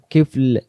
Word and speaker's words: كفل: এখানে দম ছেড়ে দাও, একটু হার্ট কিফল কিফল এমন উচ্চারণ হবে।